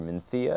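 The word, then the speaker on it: Mencía: that we also have the minia grape or Mia as they pronounce it that typically makes some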